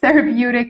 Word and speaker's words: therapeutic: Before you go, let's check the pronunciation of therapeutic again.